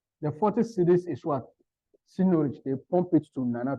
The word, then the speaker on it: seigniorage: It is pronounced as seigniorage.